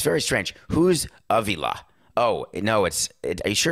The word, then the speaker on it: Avila: It is Avila, actually.